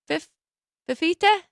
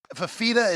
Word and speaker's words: Fifita: Now they're at home, and Noah, is it Fifita? How do you say it? It's Fafita is how Fafita is how I at least have heard it.